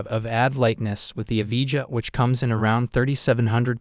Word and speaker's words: Evija: Like most hypercars, the Lotus Evija, pronounced Evija, is a rare sight.